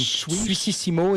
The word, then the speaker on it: Suississimo: Suississimo, it's like Swiss the word Switzerland in French, and Sissimo, Is it like Italian. It's Swiss. Sissimo, exactly.